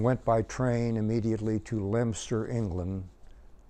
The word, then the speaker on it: Leominster: by train immediately to LEM stur England pronounced LEM stir but spell leo minster and from there we